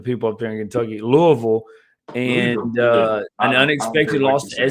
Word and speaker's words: Louisville: Let me say it right for the people up there in Kentucky, Louisville, and an unexpected loss to SMU, dude.